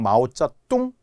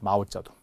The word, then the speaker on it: 마오쩌둥: 중국의 모택 동입니다 대장정에 마오쩌둥을 종종 마오쩌뚱 또는 마우저 뚱 막 이렇게 합니다 안 됩니다 중국에서 마오라 많이 하는데요 마우저 뚱 아니고요 마오쩌둥이 했어 마오쩌둥 자 모차르트 역시 된 소리